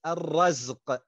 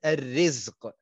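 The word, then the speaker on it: الرَّزق: that it is pronounced الرزق and not الرزق, because الرزق is the provision itself that is given to you. But الرزق with the fatha on the ra is the action of Allah subhanahu wa ta'ala.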